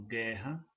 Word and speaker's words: guerra: Então, guerra, então G, que, né? Então, forma, se escreve com duas letras, mas se pronuncia um som só.